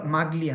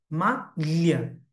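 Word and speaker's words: maglia: তারপরে দেখেন এই যে মা লিয়া, জি এল ই আছে, মা, অনেকে এটা বলে মাগলিয়া, না হবে না, মা লিয়া মানে কি?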